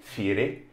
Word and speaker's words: Fieri: I think it's actually Fieri, if you wouldn't mind pronouncing it with the proper Italian pronunciation.